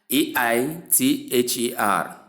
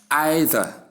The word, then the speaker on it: either: t h e r transcribed in two ways as either in the first pronunciation or either. We have I sound the sound and silent a sound to give either or either which is